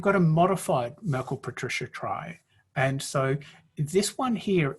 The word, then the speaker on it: trie: And so some people will pronounce T-R-I-E, tree, which is also perfectly valid. But to differentiate between trees and tries, we're going to call tries tries.